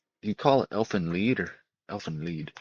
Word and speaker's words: Elfin Lied: Yeah, elfin lead. I heard some guy say elfin lied, but that's not how you say it. Elfin lead.